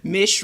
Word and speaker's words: Mish: Have you ever realized that Mish rhymes with fish and fish is a marlin?